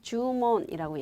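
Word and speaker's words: 注文: 그럴 문자인데 그대로 여러분 음독 들어가서 몬 이렇게 들어가서 주문이라고 얘기할 때는 우리가 주문이라고 얘기하시면 돼요. 그쵸? 그래서 주문에서 장음 들어가서 요거 계속 나왔던 단어인데 장음인 거 주의하시고요.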